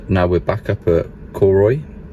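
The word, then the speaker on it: Cooroy: we're back up at Cory we found out that's I pronounced it not coroy after speaking to locals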